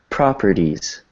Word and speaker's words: properties: So it's not a hard Z, it's a soft Z. It's like properties.